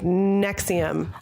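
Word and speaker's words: NXIVM: on what happened with nexium well I don't like a prescription drug or something you dis Estelle before your cup like nxi vm yeah and it's just pronounced Roman numerals it's fake roman nose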